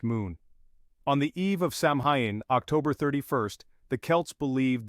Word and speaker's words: Samhain: Samhain, pronounced Samhain, was more than just the start of winter for the Celts.